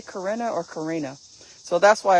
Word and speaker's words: Corinna: So my name is interesting because it has 2 pronunciations. It's Corinna, which is the German European pronunciation, and Karina, which is the American pronunciation.